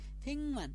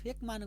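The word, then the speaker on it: 백만: यही नियमलाई हामीले आधार मान्ने हो भने हामीले सहि उच्चारण चाहिँ फेङ मान हुन्छ तर तपाईले फेङ है तपाईले यसरी फेक मान गरेर पढ्ने पढे पनि हुन्छ तर सहि उच्चारण चाहिँ फेङ मान है त।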